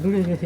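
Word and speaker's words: Relais Desserts: ねルレルレデこれルレデフルって読むんですけども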